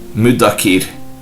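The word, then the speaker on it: مُدَّكِر: That is with doubling of consonant dal di. Abu Dawud said the word mudakir may be pronounced as mim, m, with a short vowel u, dal di, with a short vowel, and kaf, k, with a short vowel I.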